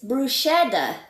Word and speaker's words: bruschetta: But it's bruschetta. It's written SCH, and in Italian, the pronunciation is K, like a K, but it's not really a Like K.